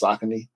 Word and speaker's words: Saucony: I think those are the two ways we always pronounce it, either Saucony or Saucony. I think the correct pronunciation is Saucony. Saucony, yeah. We used to say Saucony back in the day.